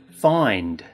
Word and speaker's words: find: look at the word find notice how it has a D sound at the end not a t sound find good have you